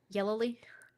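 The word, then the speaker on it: Yelloly: Yellowly.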